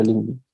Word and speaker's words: LinkedIn: O LinkedIn, como quieran llamarlo, que en inglés se pronuncia LinkedIn.